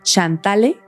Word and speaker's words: Chantale: Chantale, que se pronuncia Chantal.